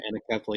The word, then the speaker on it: anencephaly: Our first child died of a condition called anencephaly, or as some pronounce it, anencephaly.